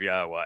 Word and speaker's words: Yahweh: It is easily pronounced. And it's easily shown that that is the proper pronunciation. In fact, I've just shared with you the two words. In fact, he wanted to take it to three. I assured all three that by themselves affirm the pronunciation of Yahweh as such.